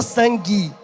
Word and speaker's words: sangue: O U é pronunciado? Não, que ninguém fala sangue. O U não é pronunciado. E o E no final é pronunciado? É. Aí pode ser E, pode ser I, né? Depende da região. A gente aqui fala sangue, como se fosse um I no final.